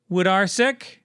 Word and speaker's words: Wodarcyk: I emailed him to say, how do I say your name? He the said Woodman. He said rhymes with carsick.